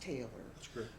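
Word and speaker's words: Taylre: point to tell everyone my name's not taylor like you think it is her father had some kind of a whim it's spelled t-a-y-l-r-e but it's pronounced taylor and she did stress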